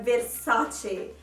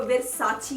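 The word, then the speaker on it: Versace: हैं हमें नहीं पता, लेकिन हम इटालियन इसको कहते हैं वर्साचे। यहाँ पे बहुत से लोग हैं, हेरसा भी इंग्लिश में इसको वर्साची कहते हैं। ये वर्साची नहीं है, इटालियन में इसको वर्साचे कहते हैं।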